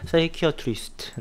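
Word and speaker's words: psychiatrist: 사이키어트리스트. 네. 이게 PSY로 시작하면요, 요게 이제 P가 묵음이 되면서 사이키, 요렇게 발음이 되죠.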